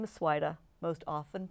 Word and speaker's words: Svajda: Last name is Svajda. Most often mispronounced Svajda.